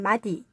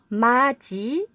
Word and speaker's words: 맏이: 단어는 어떻게 읽음 해야될까요 우리가 알고 있는 것처럼 마디 구디 같이 해도 d 여다 d 붙이다 이렇게 발음 하지 않습니다 4 오늘 기억해야 되는 것